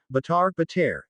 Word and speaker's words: Bhattara: In the Dharma religion tradition in Bali, the term Bhattara is pronounced Bhatar, and is equated or even identified with God, because they both function as protectors.